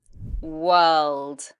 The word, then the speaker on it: world: World, world. Now this has long the same as in first, girl, heard.